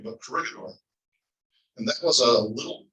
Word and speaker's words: Corregidor: Like, correct me if this is not right, but Corregidor.